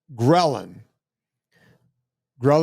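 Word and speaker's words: ghrelin: to a second um hormone grin gin is spelled g h r l i n gin go look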